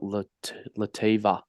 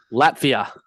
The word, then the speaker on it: Latvia: Yeah, and they got Lativa. Yeah, mate. Lavia tomorrow. Yeah. Today, sorry. 11:30 at night. So Can we just get? How do you say it, mate? no, I'm not doing that. Fuck you. Latvia.